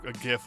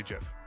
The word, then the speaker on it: GIF: I'm not going to say GIF. I'm going to say GIF. Because you spell graphics, or you pronounce graphics with a G. Graphics, not graphics.